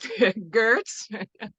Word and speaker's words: Gertz: That's Jackie Gertz. Sure. Can't pronounce the G, but Gertz.